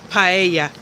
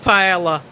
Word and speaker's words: paella: salmon paella you know the Double L in Spanish is pronounced like a y so it's paella instead of paella as some like to